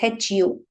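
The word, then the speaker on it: ふ: f or who so according to the series it is Hu right but the pronunciation mostly we will be using Fu right this is because of some historical change right so initially this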